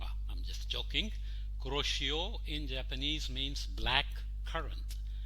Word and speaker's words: Kuroshio: it's not kuroshio current it's a japanese name uh in japan it's pronounced as kuroshio i'm just joking kuroshio in japanese means black currant so we don't need to say corrosion current we just say